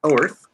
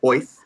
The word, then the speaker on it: Oerth: The next one goes to Oerth, or Oith, if you want to say it correctly.